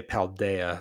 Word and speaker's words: Paldea: I just watched a trailer for the DLC for Scarlet Violet, and they officially say Paldea, so I need to adjust the way that I'm pronouncing that.